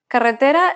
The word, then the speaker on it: carretera: word karetera meaning road carretera it's pronounced exactly how it's written that's a good example